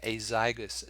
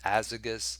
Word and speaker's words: azygous: And we call this system the azygous system. Some people say azygous, some people say azygous. However you pronounce it, both are correct.